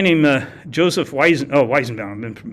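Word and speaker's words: Weizenbaum: that was created by at MIT by Joseph ween bound we're now in like the mid-60s this was like late 50s early 60s okay um this guy named uh Joseph Wiis oh why is bound I'm been mispronouncing it um he created a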